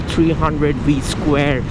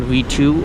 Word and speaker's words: 300V²: So today's video is about the 2018 Duke 390 running the Motul 300V square. It's pronounced V square, not V2 or version 2.